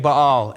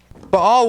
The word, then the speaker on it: Baal: They started worshiping Baal and Asherah instead of Yahweh. Baal was a weather god. A lot of times we call him Baal, but the proper way to say is Baal.